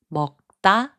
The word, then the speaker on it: 먹다: 먹다, which means to eat, is pronounced as 먹다.